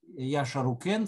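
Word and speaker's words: Šarru-ukīn: челка нпа собственно говоря так как правильно произносится имя саргона по акацки то есть правильный или правильнее сказать устойчивый царь яша рукин царь могучий царь акадо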